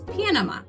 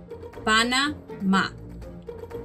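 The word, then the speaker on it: Panamá: In English, we hear this country referred to as Panama. Panama. But in Spanish, it is pronounced Panama. Panama. Panama. Where the accent goes, where the force in our words goes, is in a different place.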